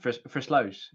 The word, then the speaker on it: Versluis: You don't have the ow sound, Versluis.